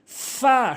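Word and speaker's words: فاء: এরপরে ফা ফা ভুল উচ্চারণ, ফা ভুল উচ্চারণ, ফা সঠিক উচ্চারণ, ফা সঠিক উচ্চারণ।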